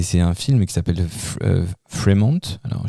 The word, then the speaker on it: Fremont: Et c'est un film qui s'appelle Fremant. Alors, je pense que c'est Fremant, ça se prononce Fremont malgré mon accent pourri.